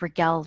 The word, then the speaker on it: Rigel: again my name is raquel uh raquel r-i-g-e-l pronounced like miguel but with an r is how i usually